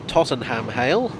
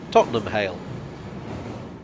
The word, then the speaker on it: Tottenham Hale: grove not lad broke as a general rule of the syllable ham comes at the end of a place name it's pronounced um so this is not tottenham hale but tottenham hale it's not on the